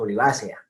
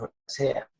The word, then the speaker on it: olivacea: Después les digo por qué el acento es el que casi todos utilizaríamos de modo natural, en este caso olivácea, diríamos, no diríamos olivacea.